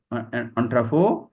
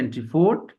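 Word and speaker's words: entrepôt: এটা হলো অন্ট্রাফো, উচ্চারণ হচ্ছে এন্ট্রিপোর্ট, বাংলা বানানো হচ্ছে এন্ট্রিপোর্ট, উচ্চারণ হচ্ছে অন্ট্রাফো।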